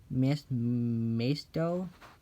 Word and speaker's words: Maisto: Next up is a Herbie made by Maisto. Oh, that's how you pronounce it.